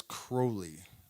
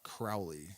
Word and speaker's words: Crowley: Um, so first of all, it's Crowley, not Crowley.